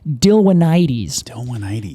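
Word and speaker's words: Dilwynites: pollen from a species they call dillonitis dillonitis and that's spelled d-i-l-w-y-n-i-t-e-s okay so this is a pollen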